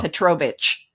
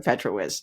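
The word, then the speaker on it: Petrowicz: No, I did, but it didn't matter because they still want to say Oh, Petrovich. Yeah, instead of Petrowiz.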